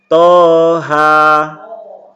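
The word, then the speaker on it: طه: pertama sampai baris ketiga Toha ingat ini dibaca panjang masing-masing dua harokat Toha kemudian Hamim huruf H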